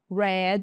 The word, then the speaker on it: read: Aqui, gente, read. I read. Esse verbo é irregular. O que são verbos irregulares? São verbos que não tem regra. A gente tem que praticar bastante, tá, pessoal? Bastante para aprender cada um deles. Então, Red é a pronúncia dele.